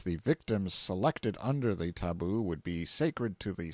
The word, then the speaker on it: tabu: and concealed themselves in hiding-places till the tabu pronounced taboo, means prohibition, we have borrowed it, or sacred.